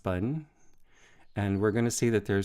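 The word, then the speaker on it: 本: And that's pronounced bun.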